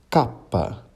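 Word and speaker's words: cappa: x e o y que em italiano serão pronunciados como ilonga capa do piavo bem parecido com português não é mesmo e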